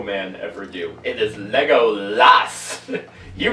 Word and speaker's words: Legolas: It is Legolas! You mispronounce it just to aggravate me.